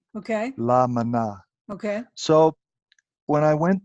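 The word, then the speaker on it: La Maná: I first went there is spelled how la and there's a space and there's ma na with an accent at the end it's a Spanish spelling ok llama na okay so when I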